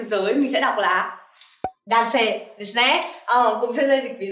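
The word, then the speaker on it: 男性: Ở đây Sensei sẽ có từ nam và chữ giới, mình sẽ đọc là dance, desne.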